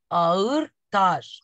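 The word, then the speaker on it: ağır: Аур-таш. Буковку Г не произносим. Говорим аур, аур. Как будто мы А и И соединили вместе.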